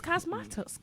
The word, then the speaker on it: Cosmatos: pronounce it. It's Cosmatos.